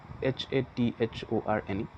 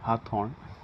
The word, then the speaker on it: Hathorne: So it is H-A-T-H-O-R-N-E. So you can pronounce it as Hathorne or Haathorne.